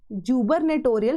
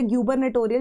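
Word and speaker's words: gubernatorial: User मतलब disturb the function या hamper the function of जुबरनेटोरियल functionaries. तो जुबरनेटोरियल का मतलब या गबरनेटोरियल जैसे भी आप इसको प्रोनाउंस करते हो।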